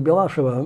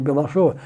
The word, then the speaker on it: Белашова: Белашова была, ну, иногда делают ударение Белашева, мне кажется, все-таки правильнее Белашова.